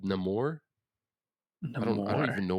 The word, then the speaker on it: Namor: He's called Namor. I don't Namor. even know what IP he's from, to be honest with you. Uh is the character appearing Neymar? Namor.